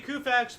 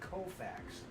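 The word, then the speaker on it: Koufax: them and 59 Sandy kfax broke Dy Dean's National League Mark of 18 strikeouts in the game woo wait a minute wait you cannot mispronounce his name I'm Sor the alltime great Sandy kofax I thought he said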